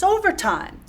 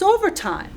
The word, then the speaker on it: overtime: And also over times the first syllable is accented. Same thing here. We have three syllables overtime. And the first syllable is stressed.